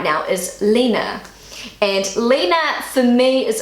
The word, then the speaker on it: Lena: So I pronounce the name Lena, but in Germany they pronounce it Lena, according to Google Translate.